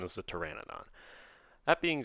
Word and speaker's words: pteranodon: official name is the pteranodon that being said the p bugs me the silent p bugs